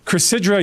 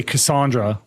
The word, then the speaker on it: Chrysidra: They say Chrysidra all the time. They give it a hard Y. Or if you're Blue Squadron, you say Cassandra, which is insane considering they've met in person, and